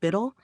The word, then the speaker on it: BUIDL: funds like black rocks buidl pronounced Biddle and other stable yield